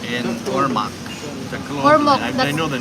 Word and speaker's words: Ormoc: And Ormoc. Ormoc. I know the name. That's yeah. Ormoc. That's part of summer. Made my decision so easy. Thank you, Tom. Yes, thank you very much. Ormoc and Tacloban.